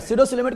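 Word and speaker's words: pseudocoelomate: सीडोसिलोमेट को पी से लिखेंगे, PSEUDO। पी साइलेंट होता है, क्या होता है?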